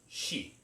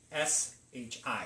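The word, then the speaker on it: 四: They don't sound anything alike, but in the Japanese dialect, it is pronounced shi, S-H-I, shi.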